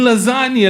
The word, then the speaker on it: lasagna: The G is silent. Mhm. In lasagna.